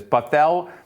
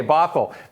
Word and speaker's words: Bothell: shore school district and i'm hopefully i'm not mispronouncing this buffal is that right buffalo bothell fossil bothell okay bothell that one i didn't give me a section